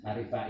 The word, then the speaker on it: Arivaie: Arif Fair itu ejaan lama itu ya.